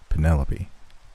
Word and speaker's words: Penelope: I'm saying it right. Penelope. It's pronounced Penelope.